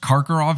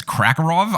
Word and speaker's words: Karkaroff: ended up being the bad guy in the situation I also mispronounced Karkaroff as Krakov I go back and